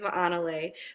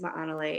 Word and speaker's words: Malay: My name is Malay. For those that haven't uh understood how to pronounce that, my name is Malay and uh me and So Deb go back so long.